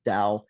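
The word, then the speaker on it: Tao: if I'm not mistaken the word TOA means or sometimes it's pronounced with a d da um means the way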